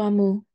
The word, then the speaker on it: Omu: Amu, pronunciado Amu, es la palabra para reina en Igbo.